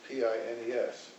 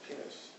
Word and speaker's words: Pines: penis in english it's p-i-n-e-s so in america we pronounce it pines but in hebrew it's pronounced penis and that was his